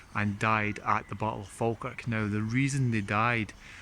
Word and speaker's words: Falkirk: it came to fa, they added this L that should never really be there.